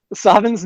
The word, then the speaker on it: Sabin: It is Edgar and Sabin, also known as Figaro Castle from Final Fantasy VI.